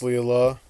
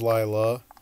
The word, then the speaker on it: Leela: Okay, so it is it's pronounced Leela. Oh, I know up. Some people that pronounces it as Lila.